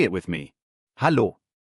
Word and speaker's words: Hallo: Notice that elongated a sound. Hallo. Hello. This is by far the most commonly used greeting in Germany. Go ahead, say it with me. Hallo.